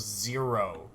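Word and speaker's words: Xero: and Gus, you all find yourselves in the city of Zero, spelled with an X.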